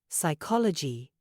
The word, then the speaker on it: psychology: Learners words like knife psychology Island they're full of letters we don't pronounce exactly the K in knife the p in Psychology the the seas in Island all silent it's no wonder Learners